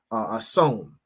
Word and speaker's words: Samhain: Halloween has its roots in the ancient Celtic festival of of hon, right, is how it's pronounced, which marked the end of summer and the harvest and the beginning of winter.